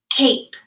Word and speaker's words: cape: you identified that vowel and you know that because the e is at the end it has a long vowel sound so let's tap it out one more time a cape oh my goodness you